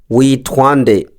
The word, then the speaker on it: Witwa: Today's Kirundi word of the day is Witwa. Witwa. The meaning of Witwa is what is your name? Witwa. What is your name? The pronunciation can be said as Witwa.